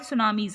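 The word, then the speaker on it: tsunami: टी सुनामीज नहीं पढ़ोगे, टी इसमें साइलेंट रहता है, सुनामी पढ़ा जाता है ये।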